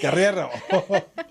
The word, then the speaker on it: Guerrero: And my super co-host here, Guerrero. Rolling those tongues. I'm like, am I saying it right? Yes. Guerrero.